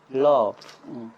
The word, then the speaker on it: rough: Love. Love? R-O-U-G-H. G-H. Love. 그러니까 G-H가 희한하게 F 발음이나.